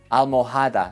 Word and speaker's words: almohada: Ten cuidado, learners sometimes want to sneak in an H sound. Alcohol, no, alcohol. Almohada, no, almohada. La H después de C suena cha, che, chi.